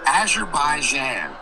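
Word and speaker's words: Azerbaijan: The prop pronunciation of the country is called Azure Baijan.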